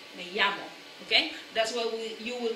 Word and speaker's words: me llamo: Now, we keep remembering, okay, that when we say my name is, it's me llamo, okay, double L, ya, okay